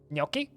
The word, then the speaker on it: gnocchi: surface or group vegetables gnocchi yeah gnocchi is one of those weird words that people mispronounce i want to say